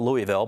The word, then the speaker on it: Louisville: I'm from Louisville, Kentucky. It's spelled the same way, and I always want to call it Louisville, but it's Louisville.